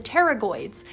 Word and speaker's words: pterygoids: muscles are called the pterygoids and just like pterodactyl the p is silent and also like pterodactyl